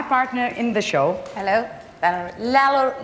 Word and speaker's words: Lello: Lello, how do you say that? Lello.